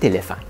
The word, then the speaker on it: éléphant: Revenons sur notre exemple, un petit éléphant. Pourquoi est-ce qu'on met un T complètement muet à la fin de petit et éléphant?